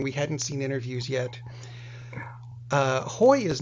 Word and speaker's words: Haughey: There was actually it was a prime minister, a leader of some kind in Ireland in the 80s who had the same last name, and they pronounced it Haughey.